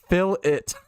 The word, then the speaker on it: fillet: Oh my god, you guys say fillet. 2 syllables. Fill it.